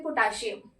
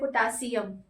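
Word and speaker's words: potassium: Suppose पहले हम बोलते थे पोटाशियम, आज हम बोलते हैं पोटासियम।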